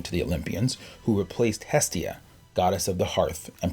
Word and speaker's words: Hestia: As the moon, Estia, Hestia, as a Greek would pronounce it.